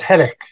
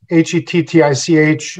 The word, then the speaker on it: Hettich: The first thing I wanted to say is my last name is pronounced Hettich, H-E-T-T-I-C-H. Hettich is the pronunciation.